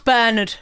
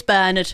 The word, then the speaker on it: Bernard: of Bernard and Mimsy I think the Americans pronounce it Bernard but that's Bernard for me and wiberg's a European place so it's berned so when you actually